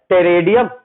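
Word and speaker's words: Pteridium: मैक्रोफाइलस का एग्जाम्पल है टेरेडियम, पहला एग्जाम्पल है टेरेडियम, पी साइलेंट रहेगा, टेरेडियम, टेरिस, टेरिस, और तीसरा एग्जाम्पल है आपका मार्सिलिया।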